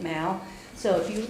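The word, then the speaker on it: Mow: I am working with an invasive specialist from Morgan County, David Mao, M-O-W, but he pronounces it Mao.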